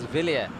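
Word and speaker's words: Wilier: you pronounce it as Villiers.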